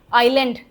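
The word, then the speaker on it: island: आइलैंड एस का कोई role नहीं है।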